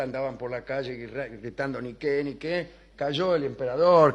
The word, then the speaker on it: Nike: Victoria quiere decir Victoria no se dice Nike se dice ni qué y por eso se